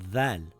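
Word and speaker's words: ذ: If you take the letter Z in the word zipper, you place the tip of your tongue between your teeth and say zipper. It will appear as zipper. In English, by placing your tongue between the front teeth, you can say the words such as that, this, other.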